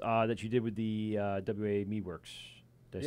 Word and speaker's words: WA: a few minutes that you did with the WA Meadworks? Did I say it right? Yes. WA? WA Yep.